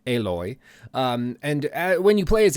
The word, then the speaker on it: Aloy: I know it's spelled as Alloy, but apparently, according to the developer, it's pronounced Aloy.